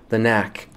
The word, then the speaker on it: The Knack: there was The Knack The Knack of course like I said spelling doesn't count so if you dropped the silent k no worries The Knack